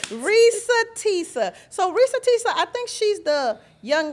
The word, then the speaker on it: Reesa Teesa: clap I got it right Risa Tissa so Risa Tisa I think she's the young lady that had